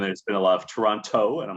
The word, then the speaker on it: Toronto: of this canadian accent the toronto accent is to not pronounce the second t there can be some